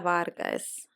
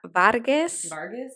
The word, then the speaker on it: Vargas: So the other one I want to talk about is Chavela Vargas. I love how she be like saying it mad Spanish. Chavela Vargas.